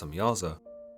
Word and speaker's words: Samjaza: The leader of these angels, known as Samjaza, sometimes pronounced Samyaza, tells the Watchers that